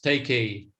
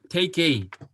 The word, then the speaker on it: Teikei: Masan, how you say it in Japanese? Teikei. Yeah, Teikei.